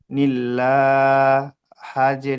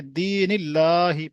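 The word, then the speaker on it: دِينِ اللّٰهِ: লাম খাড়া যাবার লা, নীল্লা, হাজের হি, নীল্লাহি। পুরোটা পড়েন, নিল্লাহি নয়, দিনিল্লাহি, পুরোটা পড়েন। দিন, দিনিল্লাহি।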